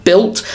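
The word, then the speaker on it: Bild: and according to B which I've been told by people in the comments is pronounced built um he's uh Manchester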